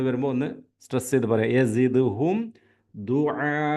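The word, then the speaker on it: دعاء: ഒന്ന് സ്ട്രെസ്സ് ചെയ്തു പറയുക ദുആ ദുആ ആദ്യത്തെ ഐനാണ് രണ്ടാമത്തെ ഹംസയാണ് അലിഫിന്റെ ഉച്ചാരണമാണ് രണ്ടാമത്തേത് ദുആ മദ് ലോങ്ങ് മദ്ദാണ് അങ്ങനെ ഒന്നുകൂടി നോക്കാം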